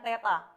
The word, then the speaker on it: theta: Ini bacanya theta.